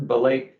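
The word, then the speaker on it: Belej: Again, it's Myron Belay, and my email is the letter M followed by my last name, which is Belay, and that's spelled B-E-L-E-J.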